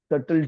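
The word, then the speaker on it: subtle: इसको स्पेलिंग में सिंगुलर में बोले तो एस यू बी टी ई एल टल और टी वाई सटल T that is singular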